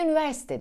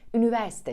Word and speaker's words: üniversite: bu perdede kelimesinin Aslında doğru okunuşunu biliyoruz ama günlük hayatta yutarak konuşuyoruz ve üniversite diyoruz lütfen dikkat edelim ve hecelerin hepsini testlerin hepsini telaffuz edelim üniversite şeklinde söyleyelim 17 sırada genellikle eski toprakların